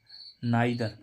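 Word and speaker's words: neither: देखें एन ई आई एन ई आई टी एच ई आर नादर नादर माने कोई भी नहीं देखो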